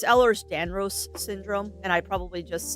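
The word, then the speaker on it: Ehlers-Danlos: Eller Stanos syndrome.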